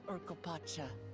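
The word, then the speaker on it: Urqopacha: So this is Urkopacha. I've been saying it right.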